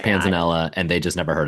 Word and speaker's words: panzanella: Yeah, but it's like Italian, so it's probably Panzanella, right? But then could be Panza. I've never heard it pronounced Panzania. No, I'm going with Panzanella.